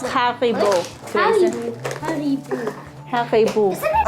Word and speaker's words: HARIBO: How do you think you pronounce Haribo, Grayson? Haribo.